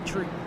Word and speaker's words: Threet: So Bailey Threet continues to lead. Am I saying his name right? Ain't it Threet? Bailey Threet? I think it is. Bailey Threet. It's Bailey Tree.